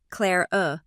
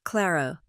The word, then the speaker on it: Clara: He pronounced my name wrong. Clare uh instead of Clara.